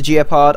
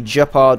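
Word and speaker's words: Gepard: I know I call it the Geopard. I know it's supposed to be Jeopard or something, but I don't care. I'm not German.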